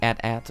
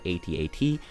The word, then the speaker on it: AT-AT: movies where you saw the at-at or 80 80 on that depends on how you want to pronounce it but you could see